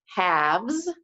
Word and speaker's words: halves: for the math today halves yes as a silent L in it halves means we're dividing